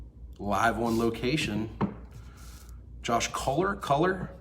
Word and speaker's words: Kohler: Josh Kohler, how do you pronounce it? Kohler.